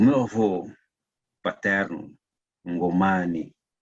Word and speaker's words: Ngomane: O meu avô paterno, Ngomane, ou melhor pronunciado, Ngomane, é descendente do Ngomane,